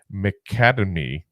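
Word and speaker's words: McAtamney: always mispronounce his name macademy almost sounds like the academy you know was talk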